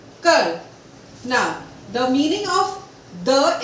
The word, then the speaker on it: coeur: COEUR becomes Cur. We will repeat this once again. T, L, M, S, S. The, F, P, S, Cur.